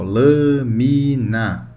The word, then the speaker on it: lâmina: A sílaba tônica é a antepenúltima. Ó, lâmina.